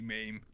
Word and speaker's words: MAME: of me just babbling about mame or mame, or I was just asking, so is that how it's pronounced? And then Cass like, no, it's actually mame.